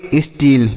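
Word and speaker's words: steal: double E एल तो एस टी ई एल से हम पढ़ेंगे स्टील क्या पढ़ेंगे स्टील और एस T double E एल इसे भी हम स्टील पढ़ेंगे ठीक है दोनों को स्टील पढ़ेंगे इस पहले वाले स्टील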